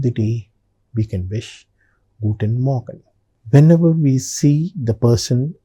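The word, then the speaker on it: Morgen: I pronounce it Guten Morgan. Did you observe when I was saying Morgan, the letter R was very very faintly pronounced. It's very important.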